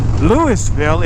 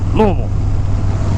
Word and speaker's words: Louisville: know down that way it's not louisville or lewisville it's louisville it all kind of like blends together louisville louisville low low low low low it's almost